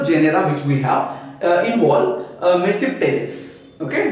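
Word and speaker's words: Tmesipteris: Okay, now other genera, of course, other than Psilotum, okay, the other genera which we have involve mesipteris. Okay, the T is silent here, it is mesipteris.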